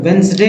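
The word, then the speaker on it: Wednesday: है इसको D handsome का डी जो है साइलेंट है वेडनेसडे जो पढ़ रहे हैं तो वेनसडे का डी यहां पर जो लिखा हुआ है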